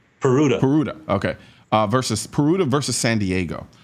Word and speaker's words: Peruta: So now, quickly, tell us about the big California case, Puerta. Am I pronouncing that correctly? Peruta.